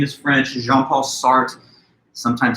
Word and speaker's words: Jean-Paul Sartre: a French philosopher and his name is French jean-paul Sartre sometimes it's hard for us english-speaking Americans to pronounce those French ours a very guttural soft kind of our I guess but that's his name jean-paul Sartre now this concept existentialism is kind of the